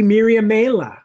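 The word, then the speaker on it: Miriamele: on the fact that the language it came from was sort of latinate the nibandi language her name should be Miriam Mela or Miriam melee or something along that lines the e at the end should actually be pronounced yeah but long ago I gave it much more of a almost like got modern French pronunciation um because that I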